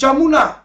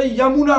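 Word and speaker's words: Yamuna: ইয়ামুনা river Delhi district যমুনা actually উচ্চারণটা ইয়ামুনা নয় মানে ইয়ামুনা হয় উচ্চারণটা যমুনাটা হলো যেটা বাংলাদেশে যাচ্ছে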